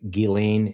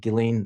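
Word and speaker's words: Ghislaine: on an airplane with guillain is saying you pronounce it gillen maxwell and she's and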